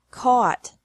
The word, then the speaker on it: caught: Oh ugh T or au ght but the pronunciation is the same bring bra brought by bought bought catch caught caught fight fought fought seek sought sought teach